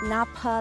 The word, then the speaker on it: Napa: We are at the Napa Lake, pronounced the same way as the Napa Valley in California.